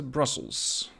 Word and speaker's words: Brussel: Today, in episode 7 of this series, I want to go back to Brussels. In Brussels, or Brussel as we Dutch pronounce it, I have built a couple of additional bridges.